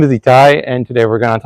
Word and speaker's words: Itai: So, and my name is pronounced Itai, if anyone doesn't know me yet, which I doubt here.